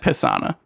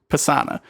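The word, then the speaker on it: Pasaana: called persona it's all it's spelled p-a-s-a-n-n-a but it said pissana pesana and it's just like it just sounds terrible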